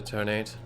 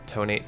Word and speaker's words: Detonate: that's one way of describing what happened to tonight anyway it seemed to just was seriously wounded